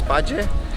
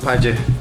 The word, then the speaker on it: Paje: It's actually pronounced Paje and not Paje, like I thought.